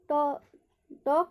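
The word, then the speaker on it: talk: यहाँ पर भी टॉक में क्या होगा, एल का उच्चारण नहीं होगा।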